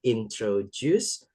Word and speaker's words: introduce: Introduce longer, longer longer and clearer. And clearer. Alright. Ya, ini walaupun pakai D, bacanya pakai J ya.